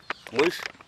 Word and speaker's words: Meoiush: Mush. Mush. Yes. How do you spell that?